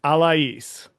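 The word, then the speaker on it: Alaïs: Um, Alas, she has that um lot on her on the I in her name, so I don't know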